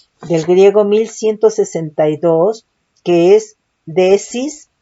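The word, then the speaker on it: δέησις: De oración, del griego 1162, que es desis, doble E, acento en la primera E.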